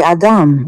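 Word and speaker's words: אדם: I would like to know, how do you pronounce Adam in Hebrew? Adam. We say Adam.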